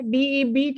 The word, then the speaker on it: debt: DEBT है, लेकिन B silent रहता है। debt.